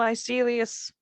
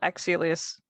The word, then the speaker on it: Axelius: Well, Icelius Axelius? Axe with an A. Yeah. Okay. Well, Axelius.